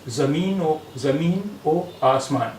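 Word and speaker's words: زمین و آسمان: Here it means and where Vaw means and, it is pronounced as O. So it will be pronounced as Zameen o Asman.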